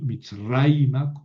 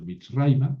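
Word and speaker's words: מִצְרַיְמָה: Y Mitzraima, ojo donde cae el acento, Mitzraima me indica que este A final es dirección hacia Egipto.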